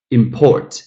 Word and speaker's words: import: The same situation goes to import and import. Import, noun, first syllable. Import, verb, second syllable.